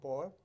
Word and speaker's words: Bol: And our guest tonight is Boyle, who is, did I say it right? Bowl. Boyle, yep.